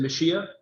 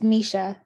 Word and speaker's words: Misha: chelsea deborah is it is it meshia is that correct no how do i say your name please it's misha misha well i want to